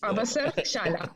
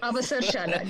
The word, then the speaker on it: Avasarshala: Avasarshala. Yes. Avasarshala. Give a pause after Avasar. After Ava.